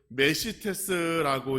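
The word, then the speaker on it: μεσίτης: 중보의 뜻은 헬라어로 메시테스라고 읽는데 그 뜻을 보면 갈라진 원인을 제거하고 화해와 일치를 얻게 하는 것이라는 뜻입니다.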